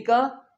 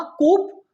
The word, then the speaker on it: coup: COUP को हम क्या कहेंगे? क्या कहा? कूप? गलत। इसका प्रोनाउंसिएशन है कू। इसमें हम पी नहीं बोलते।